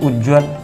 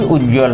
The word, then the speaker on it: उज्ज्वल: पहले तो हम लोग ऐसे लिखते हैं उज्ज्वल, जो कि पूरी तरह से गलत है। सही उज्ज्वल है, दोनों जा आधा रहेंगे, ये सही है।